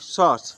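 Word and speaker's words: sauce: होता है ठीक है अब ए यू का उच्चारण एयू का उच्चारण एयू का उच्चारण अ होता है आ आ क्या होता है आ ठीक है तो जैसे एस ए यू सी ई सॉस एस ए यू सी ई सॉस तो उसमें अ का उच्चारण हो रहा है ना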